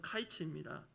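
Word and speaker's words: קיץ: 여름 과일로 번역된 단어의 실제 히브리어 발음은 카이츠입니다. 그리고 끝이란 뜻의 단어는 쾌츠 이렇게 발음하는데요, 그 앞에 영어로 치면 정관사 더가 붙어서 그게 하거든요.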